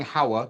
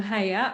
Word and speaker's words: Haya: So let's go to Haya, who I keep calling Hawa because it was my grandmother's name, but I'm going to say it properly. Okay, so I'm Haya.